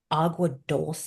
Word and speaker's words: Agua Dulce: And then we shot in, I always say it incorrectly, but Agua Dulce. I always want to Okay. say it how it's spelled, and it's this really cool, like very beautiful, dusty.